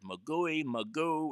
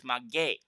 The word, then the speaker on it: Maguey: We heard Magoo, we heard all sorts of things. It's Maguey.